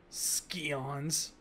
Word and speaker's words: Scions: Scions. It's pronounced scions.